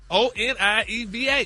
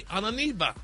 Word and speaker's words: Onieva: I need you to spell that wrong. That's not right. Wrong. O N I E V A. Onieva.